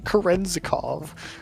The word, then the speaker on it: Kerenzikov: Kerenzikov. Okay, that one was right.